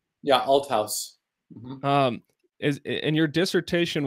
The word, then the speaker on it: Althaus: to paul and i had asked for the pronunciation paul altos outhouse right yeah alt house um is and your dissertation was on paul